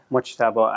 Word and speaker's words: Mojtaba: Mojtaba Abdi-Jalebi. Mojtaba. Mojtaba, Mojtaba, yeah, we have to learn to pronounce it properly.